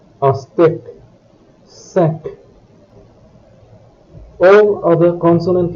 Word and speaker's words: steak: Words ending with B, K and Q also have the final letter pronounced. Le club, un steak, sac.